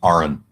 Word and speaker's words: Aron: i'm sorry to say that my name is pronounced aaron it wasn't originally that right when did you